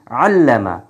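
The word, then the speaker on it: عَلَّمَ: লামটার উপরে যদি আমরা একটা তাসদিদ দিয়ে দেই অর্থাৎ লামকে যদি আমরা মুসাদ্দিদ করি তাহলে হয় কি আল্লামা আল্লামা এটা ছিল আলিমা আর এটা হচ্ছে আল্লামা এই লামটা দীপ্ত হয়েছে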